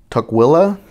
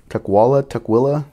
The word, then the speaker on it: Tukwila: I'm probably screwing this up, so don't get mad at me if I don't pronounce it right. Tukwila. Tukwila.